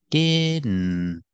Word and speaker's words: didn't: the N like this didn't didn't didn't you hear that little stop T at the end didn't I just stopped